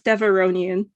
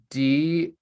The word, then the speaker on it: Devaronian: No, your word is Devaronian. Davorian. That is not correct.